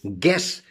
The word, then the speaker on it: guess: Guess, G-U-E-S-S, guess, U is silent.